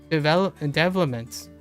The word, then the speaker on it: development: Development. No. Development, the stress is on the first.